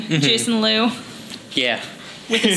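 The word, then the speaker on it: Jacen: they got a son they named him jason but spelled j-a-c-e-n so it's like i guess that's a star wars way of saying jason that's how you spell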